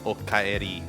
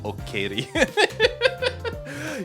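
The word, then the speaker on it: おかえり: You say okaeri, not okaeri."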